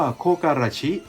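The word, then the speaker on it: 木枯らし: ทำ ให้ แห้ง เห*่ยว เมื่อ รวม กัน ก็ จะ อ่าน ว่า โคก อา ราชิ ดัง นั้น จึง สื่อ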